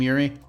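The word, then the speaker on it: Eury: I did not describe this until there's a little sign in this room that does say Madam Yuri, and it is spelled E-U-R-Y.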